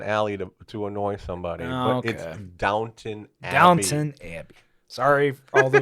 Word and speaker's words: Downton: Downtown Abby or wherever that show is called Downton Downton it's called downtown alley yeah oh oh what what a prostitute